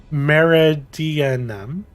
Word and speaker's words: Meridianum: i say meridian is meridianum madeira i'm going to say meridium because it's easier it's meridia num there's an n in there i never pronounce one might expect the black